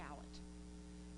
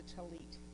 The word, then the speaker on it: tallit: Now, Adam, you help me say that right, because I want to call it a tallit, but I know it's a talit, and I don't always say it right, so you help me, Adam.